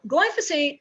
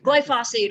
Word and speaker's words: glyphosate: point yeah okay so glyphosate is glyphosate or glyphosate you can pronounce it either way is the chemical